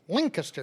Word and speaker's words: Lancaster: them in the balls Lan n Caster like caster oil Lancaster which has a G sound